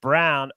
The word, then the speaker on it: Braun: And I will also like a player prop, Christian Brown, spelled Braun, pronounced Brown, over 12.5 points at plus money, because Leaky Black is going to be on Abaji.